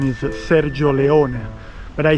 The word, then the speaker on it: Sergio Leone: The right pronunciation is Sergio Leone but I say it in the English uh you know, in the English way. Sergio Leone, okay?